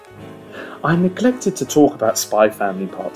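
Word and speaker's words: Spy x Family: see I didn't pronounce the X aren't I good I neglected to talk about spy family part 2 for a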